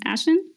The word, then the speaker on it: Eislyn: like to invite um ashling first to tell us her story so i hope you i pronounced your name correctly is this um ashen yup you you pronounced it perfectly uh great so i